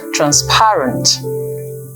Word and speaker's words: transparent: how about this word the word transparent people out there most Nigerian speakers would say transparent and there is no such word as transparent it is trans parent there are a treasure